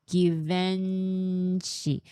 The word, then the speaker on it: Givenchy: Not hard G. It's French.